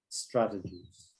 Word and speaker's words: strategies: asking me to repeat the pronunciation of strategies strategies okay stress on the on the first syllable there um so yeah